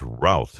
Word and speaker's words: Routh: I think it's Routh, isn't it? Routh, he tried to kill